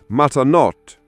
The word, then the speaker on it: matanot: Third word, matanot. Phonetic matanot. Three clear syllables. The final t should be crisp.